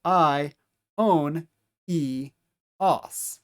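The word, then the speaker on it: αἰώνιος: And then these 2 vowels are going to be pronounced separately from one another. I, and then os as the last syllable, the combination of omicron and sigma. So I, own, e, os.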